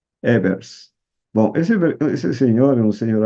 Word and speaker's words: Ebers: Se escreve Ebers. Evers.